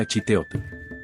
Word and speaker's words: Achiteotl: La grafía española que acompaña al jeroglífico indica que se pronuncia a chiteot.